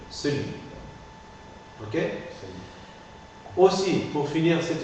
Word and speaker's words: celui: Et finalement, pour le démonstratif, celui. On en prononce le E muet. Celui.